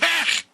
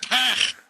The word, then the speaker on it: Pech: It's pronounced Pech! Pech! So, that's great! Right. It's pronounced Pech!